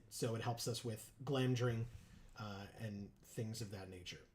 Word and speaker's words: Glamdring: Joe, it's pronounced glam dring.